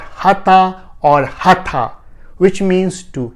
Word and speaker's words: hatha: or pot but if you know a better word in english that closely sounds like hut please let me know